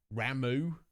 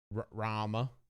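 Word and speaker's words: Ramuh: You know, we've already got the Fulgarian, Ramu, or Rama, if you prefer. Apparently that's the correct pronunciation.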